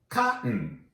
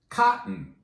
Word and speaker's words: cotton: Look at the label and you'll see cotton, cotton. That double T is often pronounced with the glottal stop. Cotton, cotton.